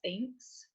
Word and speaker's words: Thinx: So Thinx, it's spelled like Spanx, but Thinx, Thinx.